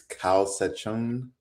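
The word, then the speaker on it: Kawsachun: So y'all I actually first of all before Camila gets here uh we're going to have to get this pronunciation right. So I think it's Ka Sachon News.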